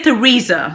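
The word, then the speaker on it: Theresa: May, sí, está bien, pero en inglés sería Teresa. Se escribe con una H, así que sería Teresa.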